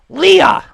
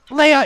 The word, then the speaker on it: Leia: to say you're wrong her name is not um Leia it's it's Leah because that's what we hear in the movie and according to General